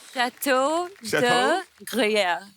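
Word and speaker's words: Château de Gruyère: Jacqueline ने pronounce it. Jacqueline क्या नाम है इसका? True है. Chateau de Gruyère.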